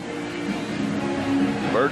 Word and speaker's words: Burt: Jim Bert Bert rhymes with dirt he caused the bumble